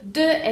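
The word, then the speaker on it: deux: X no se va a pronunciar, entonces tenemos la palabra de. De es el número 2 y se pronuncia de. Acuérdense que aquí no es do, no es, no sé, de, es de.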